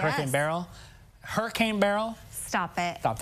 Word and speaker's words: Beryl: It's Hurricane Beryl. That's it right here. And you think of like a barrel. That's how you say it, yes. Hurricane Beryl.